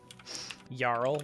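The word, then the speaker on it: jarl: territory of yarrow frostgale yarl like j-a-r-l frost gale how you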